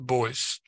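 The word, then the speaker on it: Beuys: name I can't remember the second part is b a with all lights on top of it us which is pronounced the boys um I'll give it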